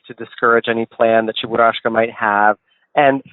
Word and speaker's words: Cheburashka: You also collect, now let me see if I can get this right, Cheburashka? Did I say it right? You're very close. You're very close. So Cheburashka is the cutest Soviet-era cartoon, and it's this little bear, sort of bear monkey creature.